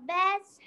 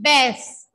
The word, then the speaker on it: bus: The bus has four wheels. My dear students, this is bus, not bass, it's not a bus.